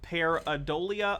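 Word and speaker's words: pareidolia: know if he pronounced it right but uh peridolia peridolia periadolia someone correct me anyway uh is a phenomenon where human beings will seek out unintentionally uh paradolia okay cool so paradolia is basically you look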